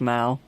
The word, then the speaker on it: Meow: Yes, it's pronounced Mao. Oh, I beg your pardon. Yes. Okay, sorry about that. But it's also pronounced Meow. There's 2 ways to pronounce it.